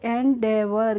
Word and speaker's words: endeavour: और EAVOUR को पढ़ेंगे एंडेवर।